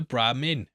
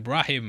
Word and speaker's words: Brahmin: the heads from the Brahmin. I said it right that time! Also, mate, I'm still getting shit for misspeaking that in episode 2 and saying Brahim, and I'm like, what the fuck, mate?